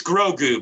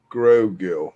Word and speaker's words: Grogu: My friend just is calling Baby Yoda Gogurt because she can't pronounce it either, so she's going with Gogurt. That is a solid replacement. Yeah, it's Grogu, by the way. Grogu.